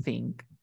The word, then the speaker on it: think: comento que el verbo pensar se dice think. Este TH tiene el sonido de la teta. Por lo tanto, ¿cómo se pronunciará pensar en inglés? Think.